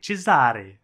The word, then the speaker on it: Cesare: fera la rencontre de Cesare Cesare qui est un prénom que je sa prononcé en italien grâce à au jeu Assassin's